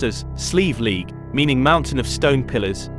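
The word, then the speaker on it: Slieve League: Sleeve League cliffs, often pronounced as Sleeve League, meaning mountain of stone pillars, are located in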